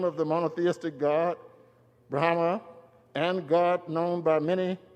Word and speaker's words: Brahma: And he said and I think he even mispronounced Brahma, the Indian uh the Hindu rather Hindu god